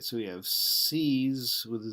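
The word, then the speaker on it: seise: It's pronounced the same, C's.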